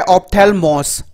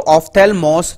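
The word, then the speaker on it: ὀφθαλμός: जो अगला वर्ड है वो है ऑप्थेल्मोस, जी हाँ दोस्तों ऑप्थेल्मोस, जो ग्रीक वर्ड है जिसका मतलब होता है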